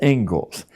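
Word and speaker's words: Inglis: The Engles lecture looks like English, but it's pronounced Engles.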